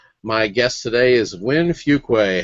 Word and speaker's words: Fuqua: Some people pronounce it Fuqua, some Fuqua. Depends on whether in the country you are, but we say Fuqua, so you bet you got it perfect.